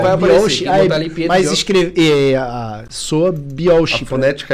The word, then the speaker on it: Biolchi: Se escreve é, daí escreve... B-I-O-L-C-H-I. Biolk. Quem fala Biolche merece tomar um pau. Vai aparecer. Mas escreve... soa Biolche.